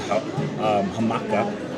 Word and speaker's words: jamaica: It's pronounced Jamaica in the U.S. It's hamaca.